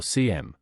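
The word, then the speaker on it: SIEM: like a security information and event management or CM sometimes pronounced CM system what happens is we can configure our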